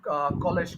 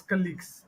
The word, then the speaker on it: colleagues: all when you're saying you kept saying College college but it's not College it's colleagues okay colleagues yeah so that